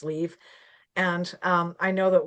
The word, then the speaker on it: Liv: have pointed out that her name is supposed to be pronounced leave.